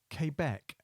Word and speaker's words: Quebec: Q is Quebec, pronounced Quebec, Quebec.